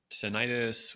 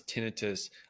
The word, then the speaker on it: tinnitus: And tenitis, which doctors like me typically pronounce tinitus, um, as well as hearing loss, these are invisible conditions.